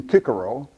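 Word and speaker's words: Cicero: back to post abdominus cícero or as he would have pronounced his name kicker Oh wrote about an instrument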